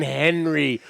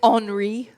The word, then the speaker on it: Henri: No, we survived the Hurricane Henry of 2021. I believe Hurricane? it's Henri.